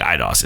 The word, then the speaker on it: Eidos: I think Eidos is correct, Montreal.